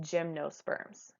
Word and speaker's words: gymnosperms: seed bearing plants is called gymnosperms okay pronounced just like the gym that you would go to to workout or play sports okay so again I'm